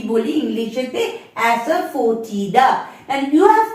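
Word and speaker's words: asafoetida: আসছে হিং হিং টাকে আমরা কি বলি ইংলিশেতে অ্যাসারফোটিডা এন্ড you have to break S এফ ও ই ফো টি আই ডি এ তাহলে কি হলো প্রোনাউন্সিয়েশনটা অ্যাসারফোটিডা নেক্সট চক্রফুল স্টারনাম থাকে না এরকম তারার মতন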